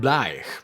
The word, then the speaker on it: blathaich: claimed it derives from the Gaelic blathaich (pronounced bla-ich), meaning "to protect", so "protection rent".